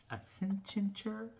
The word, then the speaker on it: Accenture: Oh yeah, I never did a video on that, but Nvidia did partner with this company called Accenture. I think I said it right. Accenture?